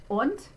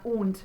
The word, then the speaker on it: und: Und, just remember it's not und, but it's und, like in cookie.